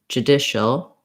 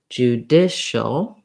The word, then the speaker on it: judicial: So again, you can build from the stress syllable, trying dicial, judicial, prejudicial.